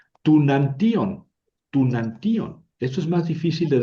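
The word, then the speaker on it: τοὐναντίον: Tunantion es lo mismo que to enutión. To enantion.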